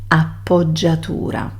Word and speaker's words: appoggiatura: And also I teach you the pronunciation, appoggiatura.